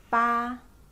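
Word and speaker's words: 八: is pronounced as Shi see first eight be pronounced as ba ba and nine you pronounce s0 Joe Oh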